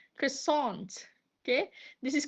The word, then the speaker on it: croissant: Uh this is quasant with stress on tissant and some of them uh pronouncing it as croissant. Croissant.